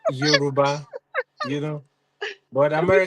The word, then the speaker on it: Yoruba: Yeah, Yoruba.